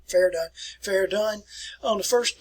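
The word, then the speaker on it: Verdun: fairgone that's where it's pronounced just like fair dunn fair done fair done on the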